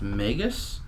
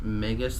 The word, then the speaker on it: Magus: found out that's pronounced Magus because on the match of the gathering website they pronounced Magus the same as Nagus from a Star Trek